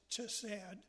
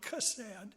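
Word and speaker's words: חֶסֶד: Mercy in Old Testament, in Hebrew, is, I'm not good at pronouncing Hebrew words, but it's sometimes pronounced chesed, and sometimes pronounced with a hard C sound, chesed.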